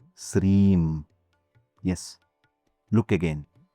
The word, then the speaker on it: Sreem: It's part of the Bija Mantra, Sreem. So, when you chant Om Sri Matre Namaha, you are actually chanting Om, the first syllable, Sreem, the second syllable. Together, that makes it a two-syllable mantra.